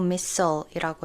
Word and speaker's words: missile: 일단 인도가 fired missiles, 영어로는 미사일이 아니고 missile이라고 읽고요.